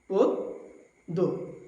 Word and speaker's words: পদ্য: নিয়ম 2, নিয়ম 2 এর মধ্যে রয়েছে যদি শব্দের শুরুতে অধ্বনি থাকে এবং এরপরে যদি জফলা থাকে তবে অধ্বনির উচ্চারণ উকারান্ত হয়ে যায়। যেমন পদ্য, পদ্য।